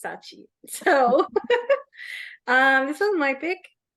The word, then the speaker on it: Scaachi: Please, the last name pronunciation, I just vibed it out, okay? But I know it's Scaachi.